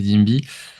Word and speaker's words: Dimby: Donc, comme tu l'as dit, moi c'est Dimby. Donc, prononcé à la française, moi, parce que je sais pas si tu étais au courant, mais moi je suis né en France.